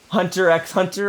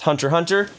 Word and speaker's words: Hunter x Hunter: lately i've been watching hunter x hunter or i've been informed that that's just pronounced hunter hunter so i've been watching